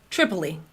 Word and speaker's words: Tripoli: Tripoli. Like 3 E's in a row.